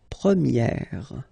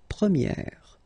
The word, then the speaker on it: première: And then for the feminine form, you will get première, okay? So it's open, this eh sound. Première, premier, première.